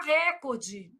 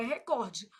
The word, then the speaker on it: recorde: Ô, Flávio, mas por que que todo mundo fala recorde? Não sei. Mentira. Sei. Influência do inglês, né, gente? Mas o certo é recorde.